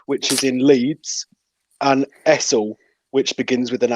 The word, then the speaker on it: Essel: Harrogate, Alsforth, which is in Leeds, and Essel, which begins with an H. It does begin with an H, yeah, but it's pronounced Ezel. Essel. Ezel, yeah.